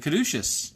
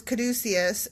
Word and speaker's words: caduceus: So you were studying up about the Caduceus. Yeah, and actually, two mea culpas there. Okay, first of all, the pronunciation. Like, I grew up thinking it was Caduceus, and then as an adult, I was corrected